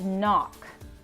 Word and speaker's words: knock: how about that one's the N is telling the K to hush okay so that's word is knock and then this one